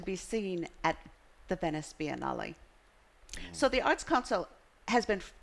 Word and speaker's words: Biennale: And then I learned the Italian, which you must say it correctly if you're going to Italy, is Biennale.